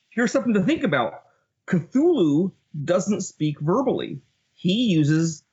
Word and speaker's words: Cthulhu: To start with the word Cthulhu, here's the deal. Cthulhu is a weird construction that explicitly was designed that humans cannot pronounce it.